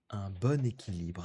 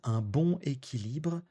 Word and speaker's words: bon équilibre: 3è et dernière expression, trouver un bon équilibre. Alors, vous avez entendu la prononciation, on va pas dire un bon équilibre, on va faire une liaison pour dire un bon équilibre.